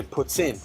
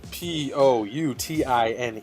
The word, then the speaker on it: poutine: it puts in uh if you're french like i am and uh i used